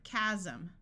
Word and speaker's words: chasm: group of people singing s will sound like Z in this word Chasm chronic a says R